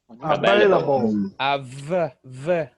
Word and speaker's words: available: Available. Remember, it's a V.